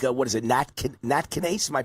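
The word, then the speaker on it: nattokinase: all the right things, like what is it, natkinase? Am I pronouncing that right?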